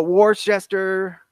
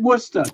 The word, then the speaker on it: Worcestershire: You pronounce it Worcester.